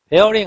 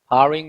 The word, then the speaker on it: barring: bearing 아니에요. R이 두 개잖아. 그러니까 barring이라고 읽는 거예요. barring 명사.